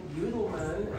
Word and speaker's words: Youdelman: know it's really interesting the way you've pronounced my last name because that is the way it's supposed to be pronounced that uh all our